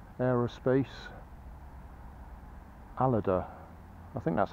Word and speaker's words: Aleda: J and H Aerospace a loader I think that's how he pronounces it a loader I've been pronouncing that a leader that this is the